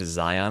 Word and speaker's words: Zion: You have a teammate named Zion, which sounds really like Ryan. You have to pronounce that kind of not how I'm used to, though.